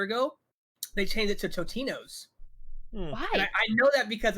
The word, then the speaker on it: Totino's: sponsored by them and he kept saying their original name tosinos and he had the he had they they messaged him like no dude you like you gotta say it right it's totino's and okay i'm relieved at